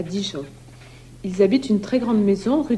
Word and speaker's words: ils habitent: That's when the verb starts with a vowel or H. In that case, the S of il, I-L-S, gets carried over and pronounced. Il habite. He lives. Ils habitent.